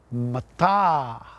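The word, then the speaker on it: mātā: Now, if you place a macron over both A's, it's pronounced like this: mata.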